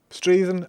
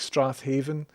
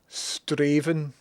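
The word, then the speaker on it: Strathaven: Um, Straven, I would have stupidly pronounced it Strath Haven. Maybe shown my ignorance as someone from the northeast. Yes. So, this is one of these Scottish words. Straven. It looks like Strath Haven.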